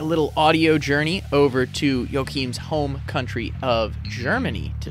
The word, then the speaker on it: Joachim: We're going to take a little audio journey over to Joachim's home country of Germany to start today's discussion. All right. Joachim, correct?